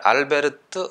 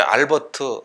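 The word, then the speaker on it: Albert: 알베르 뛰었는데 그러니까 이제 알베르트 아인슈타인 이렇게 되는 거죠 간혹 이제 알버트 아인슈타인 뭐 이렇게 부르는 사람도 있는데 알버트는 이제 미국식 발음이죠 그러니까 이제 미국식은 근데 그렇게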